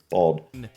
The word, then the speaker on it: bald: say that any differently bald bold bold bold for whatever reason it's common in America to pronounce this word as though it was spelled with an O and not with an a which led to some